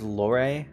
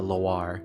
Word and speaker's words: Loire: I used to pronounce it as Lore until I played LA Noire and learned about the pronunciation of Noir. So I actually think it's supposed to be Laguna Loire, which actually sounds kind of cute.